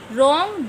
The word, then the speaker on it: wrong: R, here H is silent. Neat, K silent. Wrong, W silent.